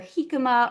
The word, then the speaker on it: jicama: There's a couple different ways to pronounce it, but either hikima or hikima. Um you don't pronounce the J. Obviously, it is a Spanish word.